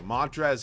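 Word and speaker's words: Montrezl: are yaw at me because there's no l in his name well there is you just don't pronounce it so Montres Herold excuse me all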